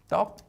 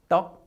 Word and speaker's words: 떡: 발음 더 연습해 보실까요? 연습해 봐요. Let's type it like that. Let's compare these two. 떡 and 턱. 떡 and 턱.